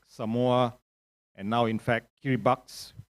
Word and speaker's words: Kiribati: and now in fact Kiribati, spelled Kiribati but pronounced it Kiribati, is a phenomenon that is, I think, reflected in your general observation of decline.